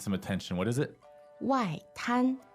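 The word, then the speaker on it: 外滩: 外滩 fourth and first.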